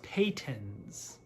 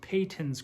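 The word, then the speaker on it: Patons: uh a viewer did correct me that it's pronounced patents so this is payton's croy i pronounce the patents because that's what everyone in their mom calls it but apparently it's pronounced peyton's croy sock yarn this is in the color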